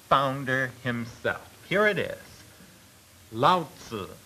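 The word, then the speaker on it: Lao Tzu: Laotzu is the way it is pronounced.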